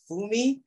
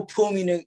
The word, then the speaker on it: Pumi: So the PH is actually sounded out with an F sound. Yeah. You know, in South Africa, it's just a PH, just a P sound. You just roll right through it, baby. The H is silent. You know what I'm saying? So the amount of times I'm called Fumi on a daily basis is crazy. You know what I'm saying?